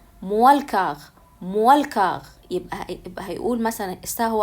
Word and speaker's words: moins le quart: فهننطقها بقى بسرعة هيقولها ايه موالكاغ.